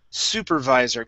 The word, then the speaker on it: supervisor: Let's start off with the word supervisor. Give me a good V sound instead of supervisor with a B.